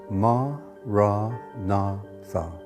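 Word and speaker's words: maranatha: you choose that word say it as four syllables ma ra na Tha listen to the word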